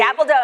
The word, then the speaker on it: Gabaldon: I have learnt so much tonight from, how to pronounce Gabaldon correctly. Gabaldon.